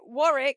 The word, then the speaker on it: Warwick: That's definitely Warwick. You mean the W. Yeah, Warick. I would have said if they didn't put a stupid silent W in halfway through.